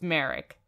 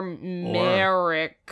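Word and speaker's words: Mharyck: It's spelled M-H-A-R-Y-C-K. So it's Merrick? Merrick, Maverick, I don't know. There's no V. Okay, yeah, well then, it's Merrick.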